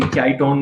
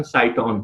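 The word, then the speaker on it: cyton: ठीक है, अलग अलग बुक्स में आपको कोई चाइटॉन बोलेगा, लेकिन सही प्रोनाउंसिएशन साइटॉन है।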